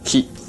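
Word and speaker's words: 気: They use terminology so-called ki. Chinese pronunciation chi, Korean pronunciation ji.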